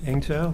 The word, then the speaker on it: Eng-Tow: My name is Engtaw. Last name is spelled Echo November Golf hyphen Tango Oscar Whiskey.